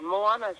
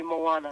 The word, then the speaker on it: Moana: Moana's how you say my name, Moana. Oh, It's wonderful Moana. to be here. Oh, well, Yeah, it's like the Disney movie Moana.